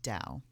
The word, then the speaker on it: Tao: It is pronounced Tao.